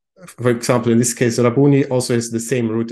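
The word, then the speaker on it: Rabboni: so this is the Aramaic word and this is pronounced as rabuni and is nowadays typically translated as Lord or Master sometimes also his teacher and for example in this case rabuni also has the same root as Rabbi for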